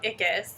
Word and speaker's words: Ickes: distracted sorry um my name is ickis and i am the name comes from my last name it's spelled i-c-k-e-s so i spell it a